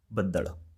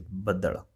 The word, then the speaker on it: ਬੱਦਲ: In Punjabi, it's going to be badal, all right? So pay attention on the pronunciation. Some people say badal.